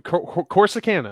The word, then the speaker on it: Corsicana: to say it now that is right though corsicana of course it can but it sounds so